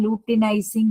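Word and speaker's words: luteinizing: इसको प्रोनाउंस करना है लूटिनाइजिंग हॉर्मोन।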